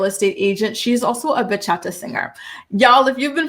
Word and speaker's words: bachata: But the way she pronounces bachata, she pronounces it baca and it every time she says it like an angel loses its wings.